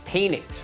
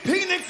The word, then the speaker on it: Penix: finally there's a college quarterback called Michael penx that's spelled p n iix penix right now it's an easy name to make